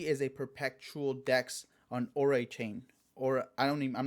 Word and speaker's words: Oraichain: Uh but it's Orai Chain with the little AI emphasis there in the middle.